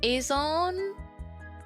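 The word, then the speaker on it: Azone: Do you write it as, is it not pronounced Azon?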